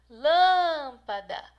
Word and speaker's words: lâmpada: Você fala lâmpada. Parte mais forte, então, é essa aqui, ó, lã, da palavra lâmpada.